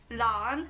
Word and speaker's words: Lan: Und mein Name ist Lan, Lan. Lan. Also So wie das Kabel. unsere Namen werden sehr, sehr lang ausgesprochen. Also das A wird natürlich, also das A wird betont.